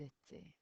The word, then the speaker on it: étaient: And remember, we don't pronounce that ent on the end. Ils étaient.